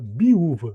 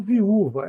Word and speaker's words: viúva: Ela biúva, né? Como se pronuncia a letra bet, muitas vezes como bet. Então a gente pode falar biúva ou viúva.